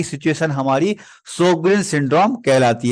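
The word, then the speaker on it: Sjögren: देखें अपन सगन सिंड्रोम इसको पढ़ने में अपन इसको सगन पढ़ते हैं भले इसकी स्पेलिंग में एस जीओ लिखा है लेकिन इसको इसका जो प्रोनाउंस होता है व सोगन करके अपन इसको पढ़ते हैं सोगन सिंड्रोम क्या होता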